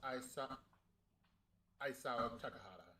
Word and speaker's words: Isao Takahata: Also, the director's name is pronounced Isao Takahata.